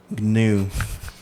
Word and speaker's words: Ngu: okay i hear it so you say with a little bit of um throat yeah the yeah yeah a little bit of throat a lot of tongue it's going it's going